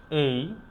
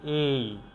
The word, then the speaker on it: A: অর্থাৎ উচ্চারণটা হচ্ছে এই। এটাকে কখনো এ বলা যাবে না। এটাকে বলতে হবে এই।